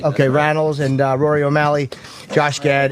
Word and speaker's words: Randells: And in the studio, it's Andrew Randells, is how you say it? Right. Okay, Randells and Rory O'Malley, Josh Gad, and Nikki M.